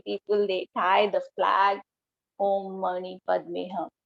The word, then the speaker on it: Om Mani Padme Hum: Pronunciation is Om Mani, Mani, Padme, Padme, Hum. Om Mani Padme Hum.